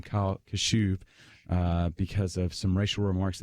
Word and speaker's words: Kashuv: Harvard has decided to rescind their acceptance offer, their acceptance to Kyle Khrushchev, I believe, how do you pronounce his last name? Kyle Kashuv, because of some racial remarks that he made 2 years ago.